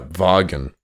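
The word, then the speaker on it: Vagn: spell it van vayne how would you say that one oh yeah vargan vargan so what else happens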